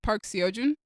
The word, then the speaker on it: Park Seo-joon: it's Park Seo-joon.